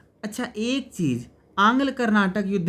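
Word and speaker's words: Carnatic: कर्नाटक नहीं है जो आज हम देखते हैं कर्नाटक राज्य नहीं वह यह वाला कर्नाटक है देखो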